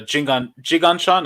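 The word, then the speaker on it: Jinggangshan: we went to uh we went to uh jiganchon am I pronouncing it right yes yes yes dude it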